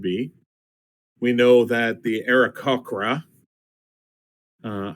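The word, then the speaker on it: Aarakocra: we know that the era cochra uh I always pronounced that aracoa I've always pronounced it wrong always anyway um we'll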